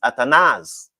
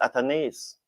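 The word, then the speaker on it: Athanaze: Some persons used to come on and say the man name pronounced atanaz. And so me listen to them and start pronounce it at. And then at came in an interview and said my name pronounced atones.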